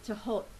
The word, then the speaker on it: Thoth: Okay, today I'm using the Thoth Tarot. Some people pronounce it as Thoth, Thoth, or Thoth, but in Arabic it is actually Tahot.